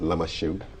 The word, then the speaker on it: Lamashegu: It may be spelled Lamashegu, but it's pronounced Lamasheu.